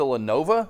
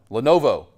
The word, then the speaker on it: Lenovo: laptop do you use I use a Lenova is that how you say it right team yeah Lenova Lenovo Lenovo Lenovo however how you say that Lenovo uh where do you